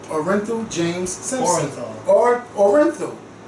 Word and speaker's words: Orenthal: Orenthal. It's pronounced Orenthal.